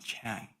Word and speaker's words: Chan: So you might have heard the word Zen from um many publications in English all talk about Zen, but the Chinese pronunciation of Zen is Chan and Changtai Chan monastery belongs to this tradition.